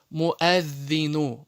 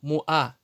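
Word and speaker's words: مؤذن: Муаддину. Муа. Не муа. Многие делают ошибку, читают муа. Нет, это ошибка. Уа не читается, хамза читается. Муаддину.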